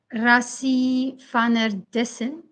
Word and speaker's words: Rassie van der Dussen: I think they will prefer Rassie van der Dussen. That's the correct pronunciation.